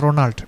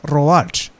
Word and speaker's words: Roald: Not it is not Ronald, but Roald.